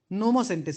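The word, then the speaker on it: pneumosintes: But when you are pronouncing it, Pneumocentis. No. Pneumocentis only. Because P is silent over there.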